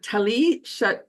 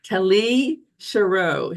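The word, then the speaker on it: Tali Sharot: So let's talk about what Tali Tali Sha I just mentioned said her name wrong. Tali Sherro she's a PhD associate professor.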